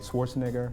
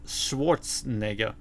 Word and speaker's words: Schwarzenegger: Arnold is from Austria, so I would say his name should not be Schwarzenegger, it should be Schwarzenegger.